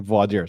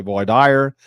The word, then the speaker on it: voir dire: And I know some people take issue with how I'm pronouncing voir dire. Some people say voir dire, and I'm sure there's a lot of other ways to pronounce it, but that's how I've been trained.